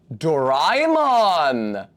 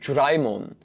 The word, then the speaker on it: Doraemon: The specific guy who's talking to me about it pronounced it like a J, like Doraemon. Like in the same way that a D somehow sometimes becomes a J in contexts in British English.